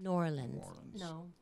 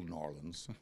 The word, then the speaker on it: New Orleans: whole song we have to say it right New Orleans very good yeah and the song that I had it's called ole ole N'awlins and it's got a nice core saliva course